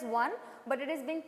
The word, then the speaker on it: ketone: name ends with on it's not pronounced as one but it is being